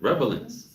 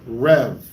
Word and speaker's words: relevance: Relevance.